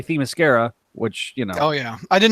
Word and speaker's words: Themyscira: get Brad to say Themyscira, which Oh yeah, I didn't know how to say it for Wonder Woman. It's not Themyscira, it's Themyscira. Themyscira.